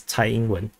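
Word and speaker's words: Tsai Ing-wen: that uh the taiwan this is sai englund so the in chinese is usually pronounced as thai england so uh so the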